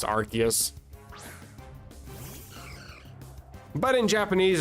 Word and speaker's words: Arceus: Arus cuz technically in English it would be pronounced Archus, but in Japanese it's called Arus.